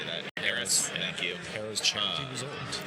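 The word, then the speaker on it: Harrah's: Harris.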